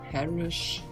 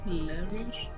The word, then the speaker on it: Larish: Das ist die Harish. Müsste man sehen, oder? Ja, wie heißt das? Harish. Ich weiß nicht genau, wie es ausgesprochen wird. Larish.